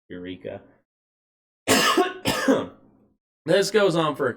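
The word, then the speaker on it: Yreka: So, Eureka with a Y, Y-R-E-K-A. I think it's spelled or pronounced Eureka.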